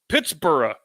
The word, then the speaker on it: Pittsburgh: not at first because when British people or people of British extraction used the b-u-r-g-h suffix it is always pronounced bura so it's reasonable to